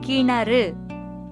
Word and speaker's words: கிணறு: இது கிணறு, சரியானது. கிணறுன்னு சொன்னா அது தவறான உச்சரிப்பு.